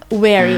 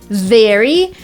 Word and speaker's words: very: similar in the word very we kind of touch our lip a lower lip with our upper teeth so let's try together